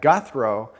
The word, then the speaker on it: Gouthro: All right, next question on Twitter from Mike McCollum says, did you ever notice that Gouthro not only rhymes with hero, but is synonymous?